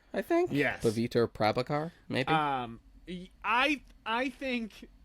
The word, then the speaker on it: Paviter Prabhakar: Paviter Prabhakar, I think. Yes. Paviter Prabhakar, maybe.